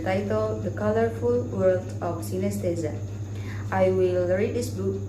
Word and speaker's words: synesthesia: If you have experiences like this, you may be one of the special people with an unusual sensory condition called synesthesia, pronounced synesthesia.